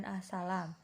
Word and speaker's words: as-salam: Yang pertama al-salam dengan A ditambahi tanda diakritik. Ditulis dengan as-salam 2S dan A diakritik, kemudian diucapkan dengan as-salam.